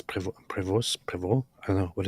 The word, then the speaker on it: Prevost: Um, prevo. Are you kidding me? I'm not saying preval. Prevo. That's it.